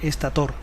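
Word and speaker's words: estátor: rotor y el estator la rae defiende aparentemente con poco éxito la pronunciación estator el rotor gira dentro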